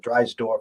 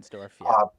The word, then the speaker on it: Reinsdorf: We know it's not going to happen with his connection with was it Drysdorf or however you say his name. Reinsdorf, yeah.